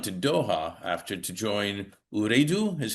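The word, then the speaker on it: Ooredoo: Also, you continued on to Doha after to join Uredo, is how you pronounce it.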